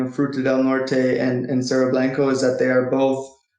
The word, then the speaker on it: Cerro Blanco: that so let's turn now to is it cerro blanco how would you pronounce this yes cerro blanco the cerro blanco gold project in in southern